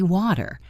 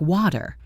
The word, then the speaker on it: water: In American English, when a T comes between two vowel sounds, it often becomes what we call a flap T. It sounds almost like a very quick soft D.